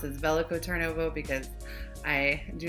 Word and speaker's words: Veliko Tarnovo: to talk about belico tarnovo which I will pronounce as velico turnovo because I do not have great Bulgarian pronunciation